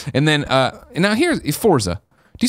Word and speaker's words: Forza: here Forza do you say Forza or fortza I say fortza where's the tea come in I've never understood this not fortza yeah fort Forza there you go really yeah I still see here at T you say it again Forza I hear the te Forza Motorsports 7 and